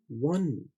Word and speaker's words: one: आपको स्पेलिंग में ONE याद रखने हैं, लेकिन आवाज में देखिए WAN जैसी आवाज है, वन।